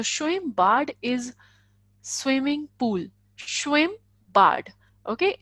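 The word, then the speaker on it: Schwimmbad: pool swim bad okay SCH as I have told you sure swim mm as I have told you it would be single it would be pronounced as single M sound would be at single M so ish blank in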